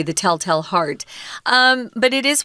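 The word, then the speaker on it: Tell-Tale: this in day one a lot of Americans will pronounce these two words exactly the same The Telltale Hearts because we're we're lazy um but if you want to be uh accurate it's tell tale more of an a sound on the next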